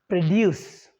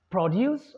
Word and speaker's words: produce: of it it's easy for a noun or an adjective we'll have to stress the first syllable if is it a verb we'll have to stress the second syllable that's it now you